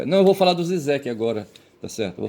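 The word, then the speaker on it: Žižek: Aí aqui a Wikipedia diz que a gente deve pronunciar Zizek.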